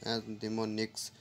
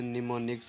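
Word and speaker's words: mnemonics: word none as निमोनिक्स इट्स इ pronounce ए मोनिक्स इस assembly जुबान में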